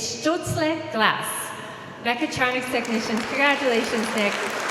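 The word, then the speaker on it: Stölzle: I should be able to pronounce it correctly, otherwise my husband might be upset. It's Stutzle Glass.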